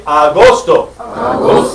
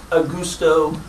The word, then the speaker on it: agosto: trouble the next one you say agosto this is one of the most mispronounced words of all time it's not a gusto or what is it